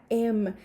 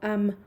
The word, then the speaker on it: am: su forma de emma que por cierto se pronuncia m nunca jamás pueden decirlo como ama porque escucho que muchos maestros de inglés en am y eso no es correcto ni en inglés británico